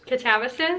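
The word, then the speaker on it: Katabasis: I've been saying catabsis. Yeah, I'll go with catabsis. Catabasis.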